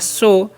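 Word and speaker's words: show: एस एच ओ डब्ल्यू तो एस एच का तालावे स ओ डब्ल्यू का उच्चारण ओ तो हो गया शो अब सो मतलब क्या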